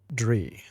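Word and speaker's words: draoi: The native Irish word for traditional practices of magic and ritual, pronounced dree. Sure.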